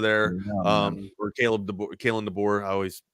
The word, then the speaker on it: DeBoer: I didn't think Alabama would cruise as smooth as they did with the new era of DeBauer there. Or Kalen DeBoer. I always say his damn name wrong.